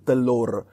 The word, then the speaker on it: telur: sounds very similar to telur, which means egg. And in fact, in Malay dialect, Malaysian Malay, we don't pronounce the R at the end of a word. So it's like telur, telu, telur, telu, telur.